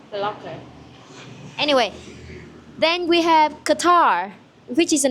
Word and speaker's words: Qatar: Yeah, like a qu sound. Qatar. Not Qatar. Qatar.